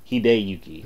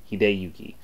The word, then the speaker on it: Hideyuki: along with hideyuki and hidey Yuki I keep saying it wrong hideyuki I know that I was saying Hindi wrong hideyuki but they could get